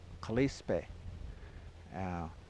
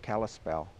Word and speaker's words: Kalispel: The Pend'oreilles called themselves Kalispe, and that became mispronounced into Kalispell.